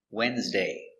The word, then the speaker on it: Wednesday: Another crazy word is Wednesday. It's very common word, but it's not pronounced like it's spelled. The D is silent and the E is silent, too. Wednesday.